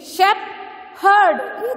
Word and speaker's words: shepherd: You don't say sheep. Okay, it is shep. S-H-E-P. Shepherd.